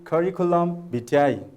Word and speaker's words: curriculum vitae: the pronunciation of curriculum vitae please try to pronounce it once yes it is curriculum vitae now can you guess what does it mean